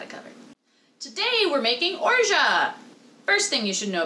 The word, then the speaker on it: orgeat: fortunately he's got it covered today we're making orgia first thing you should know about urja yes that is how you pronounce it like zsa like it's in zhajo